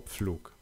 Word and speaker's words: Pflug: For instance, in German, the letter P shifted to PF. Whereas in English, we still have words like apple or plow. In German, they are now pronounced as Apfel or Pflug.